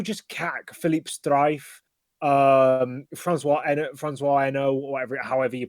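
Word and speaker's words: Hesnault: CAC, Philippe Streif, Francois Eno, however you pronounce that name. Pascal You Fabre. got it bang on. It is Eno, which is extremely impressive as a Brit to get that right.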